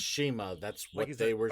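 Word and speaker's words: CIMA: So they give a history lesson about OWE in China, and Excalibur explains that Chima, it's spelled Sema, but it's pronounced Chima. It's pronounced Shima.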